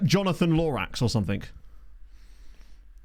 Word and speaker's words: Lorax: Or to tell you what it would be, his name would be Lorax, but football pervs would be like, I'm sorry, it's actually pronounced Lorash.